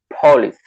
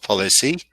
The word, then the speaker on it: police: Police. Good. Not policy, police.